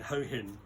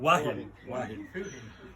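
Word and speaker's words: Hua Hin: We had arranged a holiday in a very nice 5-star beach resort in Ho Hin. Oh, I pronounce it wrong. How do you pronounce it? Wahin.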